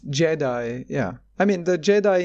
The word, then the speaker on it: Giedi: Is it pronounced Jedi? It's Jedi, yeah.